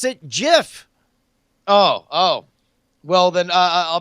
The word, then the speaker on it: GIF: guy who wrote a gif here sis you pronounce it jiff oh oh well then I'll bet you who